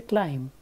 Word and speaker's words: climb: pronounce a particular letter let's take another letter B in a world like climb C L I am B you don't speak the last letter B you don't say climb bur you just say climb and there are many